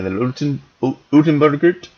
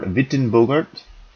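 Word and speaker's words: Uytenbogaert: bit of disagreement, but whether it's Old Dutch or New Dutch and how you pronounce his name, so Utenbergert or Wittenbogart, just depending on how you want to pronounce that. And so there's some challenges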